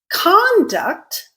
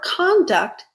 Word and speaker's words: conduct: And what did I change in the pronunciation between conduct and conduct? Most importantly, I changed the stress pattern. I changed which syllable out of the 2 syllables in that word is stressed.